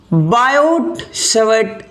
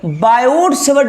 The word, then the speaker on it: Savart: बायोट-सावर्ट लॉ, सावर्ट नहीं पढ़ेंगे, आर यहां पे साइलेंट होता है ना।